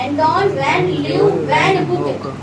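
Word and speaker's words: Antonie van Leeuwenhoek: Pronounce करने का देखो करेगा, एंटोन वैन चलाते हैं वाला वैन, फिर लियो वैन, फिर से वैन, और ये डब्ल्यू वाला वैन याद रखना। एंटोन वैन लियो वैन हुक।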